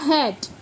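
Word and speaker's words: hate: लेकिन अगर एच ए टी बोलेंगे तो इसको हम बोलेंगे हैट है ना तो ई यानी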